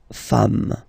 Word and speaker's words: femmes: and as we said, you don't pronounce it, so you get des femmes, okay?